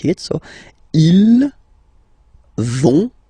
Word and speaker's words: vont: But then you don't pronounce it, so ils vont, final T, not pronounced.